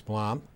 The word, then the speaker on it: Blom: My name is Blom. Bloom M. It's been pronounced every way you can think of, but it's Blom.